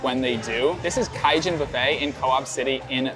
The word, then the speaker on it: Kaijin: This is Kaijan Buffet in Co-op City in the Bronx. It's not pronounced Cajun like the cuisine.